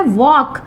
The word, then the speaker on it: walk: वॉक, WALK, वॉक। जब हम इसका उच्चारण करते हैं तो साइलेंट क्या हो जाता है? L की आवाज नहीं आती है।